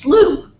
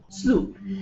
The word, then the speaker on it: slough: me and reminded me that the word is pronounced slough SLO slough it's slightly larger than a creek and Linda's